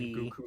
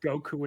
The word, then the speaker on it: Guku: And then Goku, like Goku with a U.